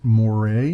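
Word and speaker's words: moiré: bit uh that is the technical term for it is Moray it's like a moray pattern and I I believe I'm pronouncing that correctly but I may not be it's a French word and I've never taken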